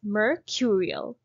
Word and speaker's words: mercurial: our second word is mercurial how to pronounce it we are going to break it into four parts over here mer cure e o mer mer repeat after me murr cure cure cure